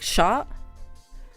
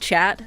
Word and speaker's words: chat: Um but I think it's more pronounced like sha sha sha I think. Not chat.